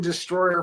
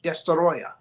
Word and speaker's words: Destroyah: Destroyah. See, in Japan, you don't do the R pronunciation. It's always a ya.